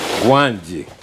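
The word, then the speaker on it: Gwangi: How do you pronounce that? Gwanji.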